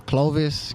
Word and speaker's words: Klovis: like how do you what's the the exact pronunciation of your name your rap name you know what i'm saying is uh clovis clovis with a k uh clovis come from the